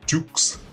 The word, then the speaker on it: Dukes: martial artist frank dukes pronounced dukes like butcher dukes his story was originally